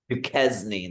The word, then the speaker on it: Duquesne: At man, I don't know if I can pronounce this. What is it? Duquesne? What did you say? Is it Duquesne? Duquesne, that's who it is.